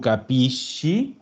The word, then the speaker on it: capisci: Tu capisci. Perfecto. Ese se hizo en shi. Capisci.